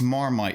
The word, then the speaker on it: Marmite: a discussion yeast uh Marmite it sounds like termite weird things in the